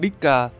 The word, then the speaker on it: DShK: khẩu dung đó là dshk đọc là diska được lên xô sản